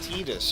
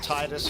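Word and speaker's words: Tidus: Yeah, Tedus from Final Fantasy 10 and no other pronunciation. I called it Titus for my whole entire life, too.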